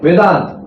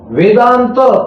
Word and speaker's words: Vedanta: Vedanta. Vedanta ta is full. Vedanta is not halanta.